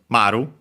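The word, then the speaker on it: 丸: It's technically pronounced as maru which actually uh is uh useful to know for uh later as we'll see. Maru unacented on its own even with this uh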